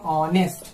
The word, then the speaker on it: honest: तो यहाँ पे पहले देख लीजिए, यहाँ साइलेंट है यानी इसका प्रोनाउंसिएशन क्या होगा, इसका प्रोनाउंसिएशन होगा ऑनेस्ट। तो ऑ क्या है आपका